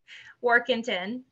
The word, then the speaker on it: Warkington: Workington.